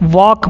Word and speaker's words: walk: इसको वाल्क मत पढ़िएगा, क्योंकि L जो है वो साइलेंट रहता है, वो चुपचाप रहता है। इसको सिर्फ और सिर्फ हम क्या पढ़ते हैं? वॉक पढ़ते हैं।